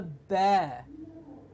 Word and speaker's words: bear: No, it's a bear. Bear. Exactly. There is no a in the sound. It is no a. There is only an a. Bear. Just like BARE, it gets the same pronunciation as BARE.